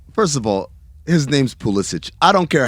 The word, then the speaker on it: Pulisic: i don't know first of all his name's pulisic i don't care how he wants it pronounced it's pulisic we know where your family's from we know